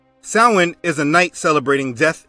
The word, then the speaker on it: Samhain: Now, the word doesn't look how it's pronounced. Samhain is a night celebrating death and hell.